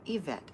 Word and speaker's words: Yvette: vet said i'm new my name is pronounced with an e yvette okay thank you yvette